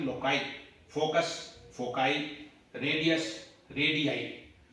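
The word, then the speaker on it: loci: लोकस, लोकाई, इसका pronunciation बनेगा लोकाई।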